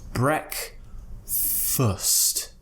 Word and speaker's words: breakfast: morning what's that called it's called breakfast Breck first foot foot first now this is difficult because we have a consonant cluster at the end which comes after the schwa and then we have so what's happening here is we're going from an s into a T what you need to do is create yes and then cut the S out with a quick T breakfast breakfast uh first